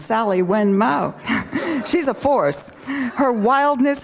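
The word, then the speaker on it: Sally Wen Mao: trying to say is Sally men Wow is a force and I think I just mispronounced her name's Sally when Moe she's a force her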